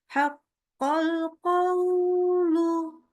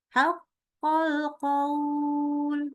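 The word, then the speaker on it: حَقَّ الْقَوْلُ: Haqqal qawlu. Nah, ini kepanjangan. Ya, jadi kepanjangan di wawu sukunnya. Atau yang semestinya panjang nih. Karena kita mau berhenti. Haqqal qaul. Kita baca haqqal qaul.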